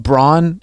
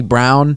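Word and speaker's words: Braun: we we talked about brawn is actually brown yeah and that looks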